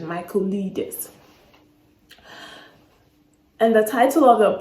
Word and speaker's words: Michaelides: I literally had to Google the pronunciation of his last name. I wasn't sure what it was, but yeah, I got it right. I guess it's the right pronunciation, Michaelides.